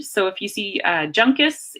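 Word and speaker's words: Juncus: say the person's name J is usually pronounced hard so if you see junk as' its junk ass it's not a soft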